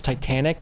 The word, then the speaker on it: Titane: can watch that um oddly it's spelled the same as Titanic but because it's French you say it Titan yeah POS possibly um